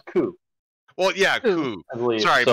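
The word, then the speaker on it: 九: in Japanese is pronounced as Q. Well, it's pronounced as Ku.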